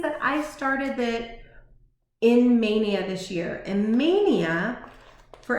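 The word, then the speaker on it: Maynia: And this was a Mania start. Oh, someone had asked what a Mania start is. So when I say something's a Mania start, it just means that I started it in Mania this year.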